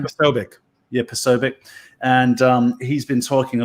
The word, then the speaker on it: Posobiec: Is that how you pronounce his last name? Jack Posobiec. Yeah, Posobiec.